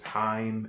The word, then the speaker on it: HAIM: new on my radar and that group is time it's spelled H a I am it's a group